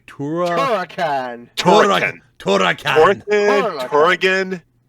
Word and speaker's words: Turrican: Turrican. Turrican. Turrican. Turrican. No, you gotta roll the R's. Turrican. Turrican.